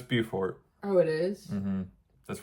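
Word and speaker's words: Beaufort: So I guess the two meccas of chaotic waffle houses is Bufort South Carolina and I think it's pronounced Bowfort. No, it's Bufort.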